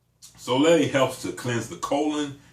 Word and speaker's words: Sole: bodies why because um soay s o e with that little Accent on the end soay helps to cleanse the